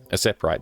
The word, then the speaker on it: Aseprite: Ace aprite aseprite aite aseprite that's probably the correct way to pronounce it as sepr um so